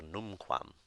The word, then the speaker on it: numquam: so we've got the the word here numquam which means never uh and you see that it's num quam the first syllable being accented the second rule is